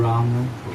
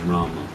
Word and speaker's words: Rama: Well, in my opinion, the full Sanskrit pronunciation is Rama. The Bengali pronunciation may be Ram. In Bengali and Hindi also, the M in itself constitutes that akshara. So when you say Ram, the part of the ma is understood.